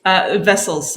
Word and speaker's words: Wessels: Okay, so, is it Wessels or Wessels? Wessels. So it's a German surname pronounced as a V.